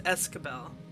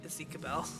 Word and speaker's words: Escabel: I've also been pronouncing it wrong. It's Escabel. It's not Ezekiel.